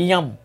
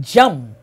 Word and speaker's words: jam: Par exemple, yam. Yam non c'est jam. Réellement le prononcer.